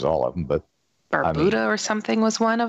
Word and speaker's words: Barbuda: Are they saying it wrong? But it's Barbuda. It's not Bermuda, right.